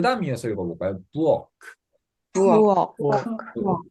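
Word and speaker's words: Burg: 부엌. 부엌. 우 다음에 이 모음 뒤에 알 발음은 약간 어 발음화로 조금 모음화가 된댔죠. 그래서 부크가 아니고 부엌 이 정도로 발음을 하고 이게 성, 도시 이런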